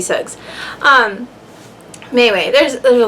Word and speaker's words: Suggs: baby sug baby sug I kept wanting to say baby Shug um maybe his baby should sucks it is baby Suggs um anyway there's there's